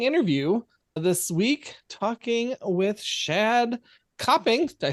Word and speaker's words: Shadd Copping: with another exciting interview this week talking with shad coping did I say that right you actually are